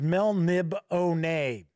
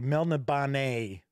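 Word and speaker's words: Melniboné: get that back so kabuki kid says that she always pronounces it as mel nib oh nay actually i do believe i pronounced it correctly mel nabane and uh i do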